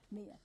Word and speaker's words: Mia: Mia. I know. Did I say Maya? It's all good.